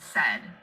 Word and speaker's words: said: Let's examine the word said, as in, Mom said to take off your shoes. Said rhymes with words you know, like head and bed.